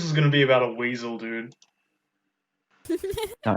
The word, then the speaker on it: Wiesel: Oh, Eli Weasel, and it's spelled WIESEL.